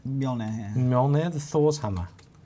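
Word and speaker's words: Mjölnir: Now, I think it's pronounced Mjolnir. Mjolnir, yeah.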